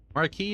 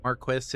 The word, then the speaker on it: Marquis: Marquee is closer to the original French. Marquis is uh used in histo certain historical titles. though they may have been specifically respecting historical pronunciation and is much more common in British English or uh Marquis.